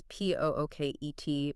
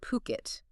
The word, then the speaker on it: Phuket: And just so everyone's clear on the name, that's Pooket, pronounced Phuket, definitely not Phuket.